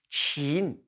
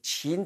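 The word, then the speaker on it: 秦: 근데 중국어는 서쪽의 진은 친, 이렇게 친 발음이 나고요. 동쪽의 진은 찐입니다.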